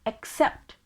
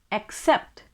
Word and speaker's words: accept: c e pt is a verb and we pronounce it as accept accept and the meaning of the word is suikar